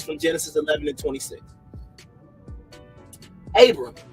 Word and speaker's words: Abram: Abram, okay, that's how you say it. That's the Hebrew right there, whose name means exalted father, and that's Strong's H87.